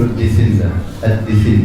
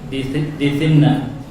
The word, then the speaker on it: الدثنة: Dithinna kasrah pada huruf dal dan thin atha dan kemudian tasydid pada nun.